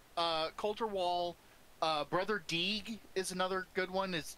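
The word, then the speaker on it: Deege: Brother Deeg is another good one. His name is spelled D-E-G-E. Mm-hmm. Like, can you Deeg it?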